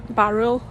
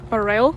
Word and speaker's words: Burrell: According to the photos I've seen of the barrel collection, which I found out is pronounced barrel and not barel, it reminds me a bit of that museum I went to see in Denmark, 45 minutes from Copenhagen.